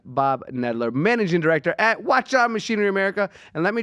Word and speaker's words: Hwacheon: how to say this not Washi on it's like having a watch and having it on is what they taught me so let's all